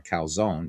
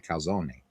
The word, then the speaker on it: calzone: So people say I want a calzone, but it's actually a calzone.